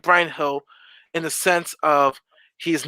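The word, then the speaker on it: Bryan Gil: I like Brian Hill, as they pronounce it correctly. I like Brian Hill in the sense of he's not afraid to attack the defenders, very creative.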